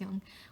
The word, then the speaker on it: Jung: What Swiss psychologist Carl Jung, I believe it's Jung, pronounced Jung, would call personality 1 and personality 2.